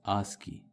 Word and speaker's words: ASCII: This ASCII, which stands for American Standard Code for Information Interchange, is pronounced as ASCII.